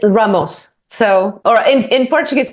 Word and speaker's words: Ramos: management 3.0 we have Ramos have I pronounced your surname correctly it's Ramos so or in in Portuguese and know I